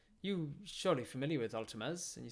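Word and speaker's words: Altames: do that can we ask a variant about ultima's oh altimas altimas um altimez is the god the god of hunting and it's spelt a-l-t-a in my head it's a-l-t-a-m-e-s i'm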